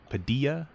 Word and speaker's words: Padilla: me today this is Anthony Padilla uh which rhymes with chicken quesadilla I don't know that's